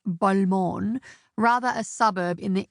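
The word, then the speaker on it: Balmain: Not the European brand pronounced Bulmon, rather a suburb in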